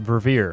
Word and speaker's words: Verveer: Paul, that's pronounced Verveer. Verveer.